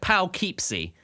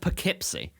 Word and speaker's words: Poughkeepsie: an english township it's like yeah it's like pal keepsy but it's pronounced poughkeepsie which is which is fun stupid and wrong